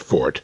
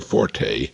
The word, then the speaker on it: forte: Incidentally, that's pronounced fort, never forte, as the uninformed would have us believe. Forte is an Italian musical term.